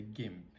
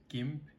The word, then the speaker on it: GIMP: There is a GIMP. It's spelled GIMP.